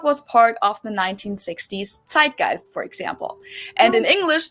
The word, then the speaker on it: Zeitgeist: Americans usually say Zeitgeist. In German, we pronounce it Zeitgeist, and this consists of the word Zeit, which means time, and Geist, which means spirit.